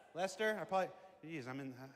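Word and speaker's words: Leicester: How do you say it? Is that Leasher? Lester. Lester.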